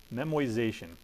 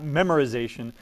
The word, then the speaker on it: memoization: can use what's called memoization that is not a mispronunciation that is not a misspelling it is called memoization right it's not memorization its memorization here's the